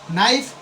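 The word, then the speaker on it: knife: Silent वैसे ही नाइफ के है और के बाद एन आया है तो यहां के का उच्चारण नहीं होगा।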